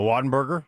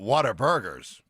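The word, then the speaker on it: Whataburger: The Watenburg. Yes, man. Did I say it wrong? How do you What is it? Waten. Watenber. Oh, yeah. But water. But water burgers.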